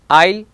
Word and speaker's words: isle: Isle, islet. Other random silent words, debris and Borges. Now letter T. It is silent before CH.